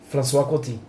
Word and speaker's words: François Coty: A primeira amostra é François Coty, assim se pronuncia, François Coty.